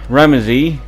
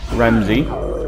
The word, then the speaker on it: Ramesses: I think is Ramesses, which is actually the correct pronunciation because I looked it up, and Ramesses is the correct pronunciation, whereas most people think it's Ramsey. It's Ramesses. But either way, I think that's the next pharaoh.